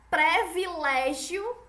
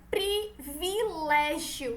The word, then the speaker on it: privilégio: como é o vice-versa exemplo previlégio e Desperdício é a pronúncia errada dessas palavras a forma certa é privilégio producing privilégio e desperdice Vila certo não é Desperdício é desses perdi e nem privilégio é Privilégio certo experdito isso então vamos